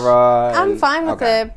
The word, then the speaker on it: Sara: I'm Sara. I have a background. Teach me how to say it like that first. Sara. Sara? You did too much emphasis on the A. Sara. Just Ara.